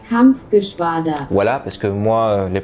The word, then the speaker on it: Kampfgeschwader: La KG-200 se prononce Kampfgeschwader.